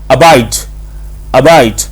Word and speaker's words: abide: इस वर्ड का बेसिकली जो ABIDE है इसकी प्रोनाउंसिएशन आपके पास अबाइड। अब आपने गौर करना है कि UH के ऊपर आपने H पे ज्यादा जोर नहीं डाला, अबाइड नहीं करना, ह की आवाज नहीं निकलनी चाहिए, जस्ट आपने हल्का सा क्लिक करके निकल जाना है।